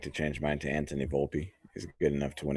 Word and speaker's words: Volpe: I would like to change mine to Anthony Volpe.